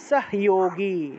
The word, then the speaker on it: সহযোগী: তাহলে উচ্চারণটা কি হবে? সাহোগী। Very good. সাহোগী। উচ্চারণটা হবে সাহোগী। যদি হ এর নিচে হসন্ত থাকে।